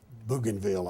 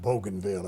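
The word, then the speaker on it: Bougainville: northeast coast of um banville Island which we pronounced banville at that time probably banville if you recall reading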